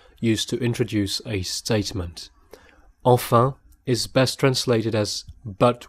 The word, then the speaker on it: enfin: Enfin is best translated as but well in that case, and note that it's frequently pronounced fin in spoken French, so dropping the first syllable like I did.